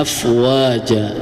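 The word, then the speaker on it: أفواجا: Nah, itu kan dibacanya harusnya ee secara tulisan afwajan ya. Tetapi karena dihukumi dengan mad iwad, maka ee diganti tanwin itu menjadi fathah. Maka dibaca dua harakat. Afwaja ya, yang asalnya afwajan tapi karena hukumnya mad iwad jadi dibaca afwaja.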